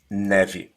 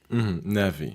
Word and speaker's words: neve: Neve. Neve. N-E-E-V. Neve.